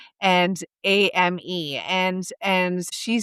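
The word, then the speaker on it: âme: It was brilliant, and in French, the soul is pronounced and ame, and she said shame.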